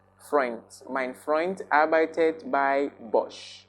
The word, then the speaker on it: Freund: Take note of my pronunciation of Freund. I am not pronouncing front. Freund.